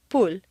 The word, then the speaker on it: pool: it will sound like pool, and at worst it will be unintelligible to your listener. For clear comprehension, you need to say 3 syllables. Pool. Where did that W come from?